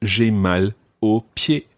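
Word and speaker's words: j'ai mal aux pieds: um in that situation it becomes o but that's spelled a u x because it's plural so to say i have sore feet that's j mal opie so the o in that one sounds like o of the masculine singular but it's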